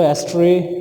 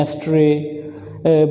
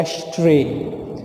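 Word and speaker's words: ashtray: वो है एस्ट्रे। What? एस्ट्रे। ऐश राख को बोलते हैं और उससे ही राखदान बना है, एस्ट्रे। एस्ट्रे नहीं बल्कि शीन की साउंड आपने निकालनी है, शीन की, सीन की नहीं, शीन की, एस्ट्रे।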